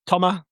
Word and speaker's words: Thomas: Yes, and the name you're looking for is Thomas Meunier. That's Thomas Meunier. You don't pronounce the S apparently, but I think the English will just go with Thomas.